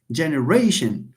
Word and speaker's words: generation: واخا فيها syllable زايدة ولكن stress عليها. C'est pour ça qu'on dit generation.